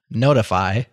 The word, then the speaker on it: ntfy: and sing okay anyways ntfy pronounced notify is a simple HTTP